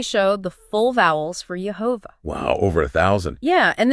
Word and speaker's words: Jehovah: 3 with Babylonian pointing, they still lead to the pronunciation Jehovah.